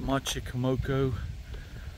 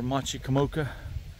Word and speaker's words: Machicomoco: here we are at Machi kamoko or Machi kamoka I guess I guess you can pronounce it either way we're here at our